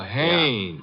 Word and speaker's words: Haynes: a i n e s oh oh oh Hanes yeah do you know him un as a fellow named Hines used to fish out no no not Hines hannes couldn't be Huntingburg no it couldn't be